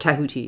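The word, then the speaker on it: Djehuty: Oh, Tahuti is how the Egyptians pronounce it. Tahuti, yeah.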